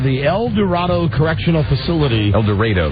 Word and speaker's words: El Dorado: El Dorado, they pronounce it in Kansas.